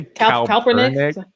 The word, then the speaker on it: Kaepernick: of protest, like when people talk about Colin Kaepernick. Remember a few years ago that people just pretty much called him the worst thing of the worst for taking a knee? Could you say Kaepernick?